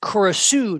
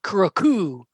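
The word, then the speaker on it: Curucu: again for a long time I realize it's pronounced kurosu not kuroku no yes of course I didn't know that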